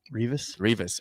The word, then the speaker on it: Revis: Revis, R-E-V-I-S, like Darrell Revis. like rhymes with Beavis.